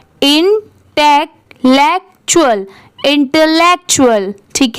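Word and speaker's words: intellectual: और यहां पर टी यू ए एल को क्या पढ़ेंगे? चूलल। यहां पर इसकी साउंड क्या आ रही है? चूल की। इंटेक लेक्चुअल। इंटेलेक्चुअल।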